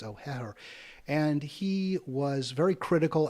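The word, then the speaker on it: O'Hehir: There was an article by Andrew O'Heher is how I think he pronounces it. There's two H's in there. I think it's O'Heher.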